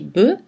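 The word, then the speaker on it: bœufs: la voyelle eux le f inale ne se prononce pas dans les mots eux et boeufs et l'orthographe eu1 correspond aux exactions helmand aux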